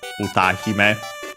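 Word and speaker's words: 歌姫: So yeah, it in Japanese should be Layton Kyoju Eien no Utahime. Utahime means diva. Literally song princess, songstress, diva. Accent on the ta, by the way, that, so yeah,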